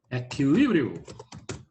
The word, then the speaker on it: equilíbrio: Equilíbrio. Eita, ferrado. A condição de equilíbrio, não, aí não. Equilíbrio. Aí é a sílaba tônica.